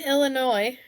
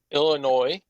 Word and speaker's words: Illinois: it me sure yeah Illinois or Illinois yuck don't say it like that it's like is it the S like silent it's just like that letter that doesn't need to be there it's like a what's